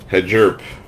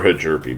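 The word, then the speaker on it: Hjerpe: I still haven't heard the proper pronunciation of this guy's name, so I'm just sounding it out. Hedgerpe. to the Cardinals. That it's Cooper Hajerby, my bad.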